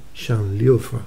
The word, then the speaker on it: Şanlıurfa: Apareció ahí en esa zona, se conoce como provincia de Şanlıurfa, se pronuncia más o menos así, Şanlıurfa, en Turquía, ¿vale?